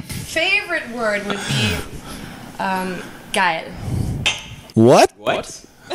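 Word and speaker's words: geil: word would be um G what what it's actually a ger expression it's spelled g e i l you spoke oh okay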